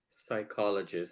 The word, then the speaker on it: psychologist: It was psychologist. I didn't know that the P was silent at that time.